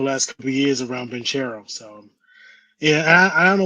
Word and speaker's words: Banchero: It's Banchero. When you see the C, you put a K.